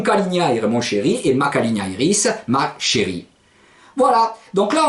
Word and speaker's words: calignairis: C-A-L-I-G-N-A-I-R-I-S. Voilà, la calignairis. Donc si vous dites mon calignaire, mon chéri, et ma calignairis, ma chérie.